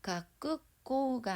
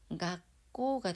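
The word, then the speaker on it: 学校: 그래서 가꾸꼬가 아닌 가꼬가 됩니다.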